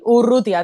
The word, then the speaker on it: Urrutia: He pronunciado bien tu apellido porque siempre me cuestan Urrutia. Sí, sí, sí, sí. Urrutia, tal cual.